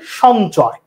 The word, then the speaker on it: সঞ্চয়: যদি ভেঙে লিখতে চাই, তার মানে এখানে দেখলাম আমি ন আর চ লিখেছি, কিন্তু এই যে যুক্ত বর্ণটা আছে, এই যুক্ত বর্ণটাকে বিশ্লেষণ করলে হয় কি? এই যুক্ত বর্ণটাকে বিশ্লেষণ করলে হয় ইয়োর সাথে চ। তার ইয়োর সাথে চ ভেঙে লিখলে হয়, আর উচ্চারণ লেখার সময় ন লিখছে।